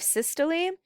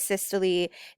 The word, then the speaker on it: systole: through the actual heart okay so we have systole and we have diastole or diastole it all kind of depends on who you talk to um what you're going to learn how to pronounce it but the top is systole this is the contraction of the heart so this is that squeezing mrs ritter was like think of a cyst which a cyst is